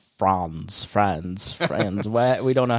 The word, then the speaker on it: Franz: You can say it either way, but I'm from. We have Appalachian roots, so it's Franz.